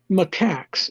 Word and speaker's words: macaque: all your shows and whatnot go look up macaques m-a-c-a-q-u-e a macaque is a type of monkey uh